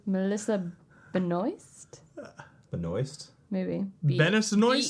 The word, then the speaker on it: Benoist: like B moist oh normally I would say it's Beno but that's not how you spell that there's an s in there you're right it's probably Benoist um she was in